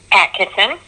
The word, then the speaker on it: Attkisson: radio network and today we have Michelle on Cheryl how do you pronounce the last name for I do not pronounce it wrong Atkeson accent yeah so can you give our listeners